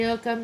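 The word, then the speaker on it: Ogham: It shows a symbol called Ogam, pronounced Oam or Oam, which is the early form of Irish writing.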